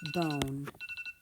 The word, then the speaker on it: bone: That silent E makes that vowel say its name, B-O-N, bone.